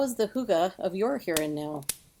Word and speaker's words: hygge: Before we get started, the Danish have a word that you may have heard about, hygge. It's spelled Hygge, which is a description of cozy.